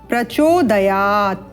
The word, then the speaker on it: प्रचोदयात: है तुर इस प्रकार और जो तीसरी त्रुटि है वह है प्रचोदयात यहां पर आप देख रहे हैं हलंत है तो दयात होगा परंतु यह पद के